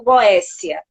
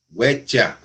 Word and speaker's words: Goetia: Goétia ou Goécia? Goetia. Com T. Goétia? É que aportuguesaram para Goécia. Isso. Mas é Goetia. É com T.